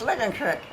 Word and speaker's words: Licking Creek: It was at the state park in Licking Creek. And I think I've mentioned this before. We always said Licking Creek. Licking Creek. Well, they think you're stuck up if you say Licking Creek. It's Licking Creek.